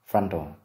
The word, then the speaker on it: frontal: Từ này có hai âm tiết, trọng âm rơi vào âm tiết thứ nhất, frontal, frontal bone.